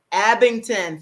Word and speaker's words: Abingdon: worked with numerous publishers urban christian kamani romance abingdon i'm probably pronouncing that right press and whatever happens abington thank you and she has written something good